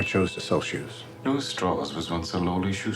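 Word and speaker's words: Strauss: it this just TR it's pronounced straws I've gone back and listened to opy say straws five times now and I swear he says straws play it again Mr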